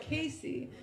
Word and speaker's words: Casey: And then people spell it wrong, and they're like, did you say Kelsey? And I'm like, no, Casey.